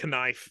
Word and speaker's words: knife: Like it used to be knife, and we haven't pronounced it knife in a long time, but you get made fun of if you say it that way now. But we still have the K.